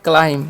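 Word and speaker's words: climb: सी एल आई एम बबी है। तो इसे हम पढ़ते हैं क्लाइम। क्या पढ़ता है? क्लाइम। यहां पर बी साइलेंट होता है।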